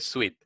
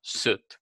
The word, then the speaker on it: suit: Pila es una pronunciación, tendemos a decir siempre sweet. No, suit.